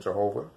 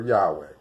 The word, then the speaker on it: Yahweh: highest extent we know the accurate the accurate pronunciation of the name isn't Jehovah so I'll just say God or Yahweh was extremely angry because